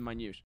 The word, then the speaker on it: minute: Again, the E is silent in minute.